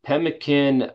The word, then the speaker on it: pemmican: Tell me more about, I don't even know how to say this, pemmican?